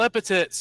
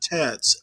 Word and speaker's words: epithets: I don't care if you want to call me racial epithets and insult my race, insult my religion. Not tats. Epithets. With a TH.